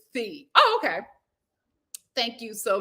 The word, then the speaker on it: Phi: For whatever reason, they pronounce it Phi.